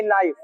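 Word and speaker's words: knife: कि नाइफ होता है नाइफ नाइफ होता है के साइलेंट होता है जैसे नो में के साइलेंट होता है नॉलेज में के साइलेंट होता है समझ रहे है ना उसी तरह नाइफ होता है ना कि क नाइफ होता है नाइफ मींस क्या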